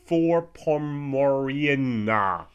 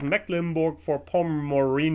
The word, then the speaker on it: Mecklenburg-Vorpommern: for poor Mauryan na Wow I mispronounced my own I my own state in English because I never say for Poland I can speak in a German but I've been not very good because it's mecklenburg-vorpommern eeeh now this is